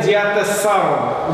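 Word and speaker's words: диатессарон: И это так называемый диатесаун. Ударение на «а», потому что это слово греческое.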